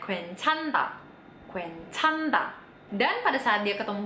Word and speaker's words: 괜찮다: Kalau ada huruf N sama H barengan kayak gini, yang mana yang dipilih? Bener, yang N-nya. Jadi ini dibacanya 괜찮다. 괜찮다.